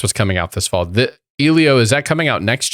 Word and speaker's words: Elio: How should I pronounce that, Eddie? Elio, and it's not Disney Animation.